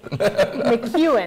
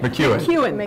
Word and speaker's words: McKeon: McEwen. McEwen. McEwen. Looks like McKeon, pronounced McEwen.